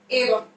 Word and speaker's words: एवं: ये जो अनुस्वार लगा हुआ है इसकी मैं की ध्वनि आएगी। किसकी ध्वनि आएगी? मैं। अपन इसे क्या बोलेंगे? एवं।